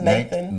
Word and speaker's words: Nataan: I was told that it's pronounced Nathan, but that is not your spelling. Your spelling of your name is Nataan.